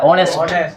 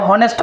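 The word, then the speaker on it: honest: Spelling कुछ से रहे, स्पेलिंग कौन चीज है? एच से, लेकिन सुनाई क्या दे रहा है? ऑनेस्ट। तुम इसको हॉनेस्ट पढ़ते हो तो गलत पढ़ रहे हो।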